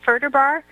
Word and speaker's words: Ferderbar: fun show my guest tonight is fam Pam Berta bar am i pronouncing it right further bar you are you wouldn't cries for that I